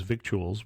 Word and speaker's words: victuals: that it we have a word in English that is victuals we don't use it that much except I don't think the C is pronounced but edible things so